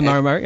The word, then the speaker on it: Maramari: the how do you how do you how do you uh pronounce this? Is it is it Maramari? Sounds like my name, doesn't it? A possible. Well, Rex told me about the Maramari. It is a Maramari. Okay.